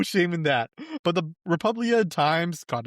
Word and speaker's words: Republia Times: I've been pronouncing this as the Republica Times this whole time, and I did not realize there was no C.